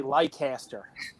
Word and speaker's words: Leicester: So no, by the way, you guys are saying it wrong. It's actually Leicester.